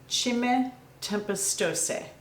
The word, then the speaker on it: Cime Tempestose: I went on Google and asked how you pronounce it, and they tell me that it is Cime Tempestose.